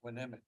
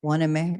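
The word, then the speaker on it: Hueneme: Waneme, Port Waneme? Waneme. Yeah. Is that the way you pronounce it? Waneme, yeah.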